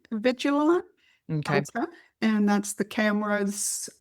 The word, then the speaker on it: Avigilon: A vi I can, I don't know if I pronounce it correctly. Alon. Avigilon.